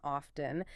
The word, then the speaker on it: often: Queen Elizabeth herself did not pronounce the T in often, and because the monarch dropped the T, it immediately became the prestige pronunciation.